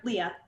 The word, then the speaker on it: Lea: So let me just make sure I'm pronouncing your name correctly. So Leah, right? Yep, Leah.